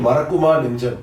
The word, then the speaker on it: Marakkuma Nenjam: Marakkuma Nenjam, right pronunciation? Marakkuma Nenjam.